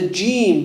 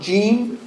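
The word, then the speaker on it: ج: So be careful for saying jim, not jim, coming from the sides of the tongue. A common mistake people make, they pronounce the jim from where? The sides. It's not from the sides of the tongue. Say jim. Is your tongue going upwards? Yeah. If it's going upwards, you're saying it wrong.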